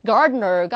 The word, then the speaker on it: gardener: 얘가 발음이 어떻다. gardener가 아니라 gardener. 이런 식으로 좀 힘 빼고 얘기하거든요.